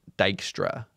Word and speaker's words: Dijkstra: is going to be dykstra's shortest path algorithm and it is pronounced dyra even though that's a j up there so uh basically we're